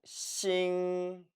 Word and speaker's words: 腥: 싱, 싱. 이 단어는 오른편에 별 성자죠. 별 성자 자체의 발음이 이미 싱입니다.